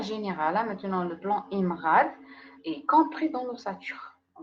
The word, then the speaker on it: IMRAD: IMRAD, puisqu'on le prononce bien sûr d'un seul coup, c'est un acronyme.